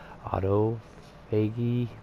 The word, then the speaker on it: autophagy: wants us to do autophagy, I cannot pronounce this. Autophagy, something. Because PH is an F sound.